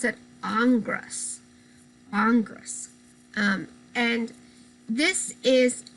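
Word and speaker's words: Ingres: here very strange um last name here you pronounce it angras congress um and this is a cross between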